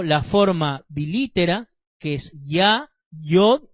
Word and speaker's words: Yah: pero como explicamos anteriormente la letra hebrea yod se pronuncia como una I y no como una J entonces aquí la verdadera pronunciación sería ya no Ja ahora leamos